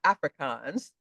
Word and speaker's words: Afrikaans: And I don't just mean English or Afrikaans.